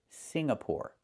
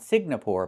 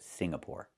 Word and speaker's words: Singapore: The NG makes a sound in your nose. Sing, like when you sing a song. Together, Singapore. Not Singapore, but Singapore.